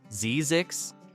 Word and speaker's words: Zzyzx: Place 8, Zzyzx, Mojave Desert. The name alone is enough to make you stop. Zzyzx, pronounced Zyzix, sits at the end of a road in